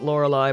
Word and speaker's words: Lorelei: I pronounce it Lorelei, but I do bounce back and forth.